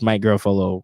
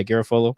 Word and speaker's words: Garafolo: if you look at it it's really just my girlfollow or however you say his name and if you said it right yeah garafolo it's really just him right and rapping for